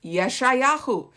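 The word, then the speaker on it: ישעיהו: So Isaiah, this is the English way to say his name, but in Hebrew it's Yeshayahu, right?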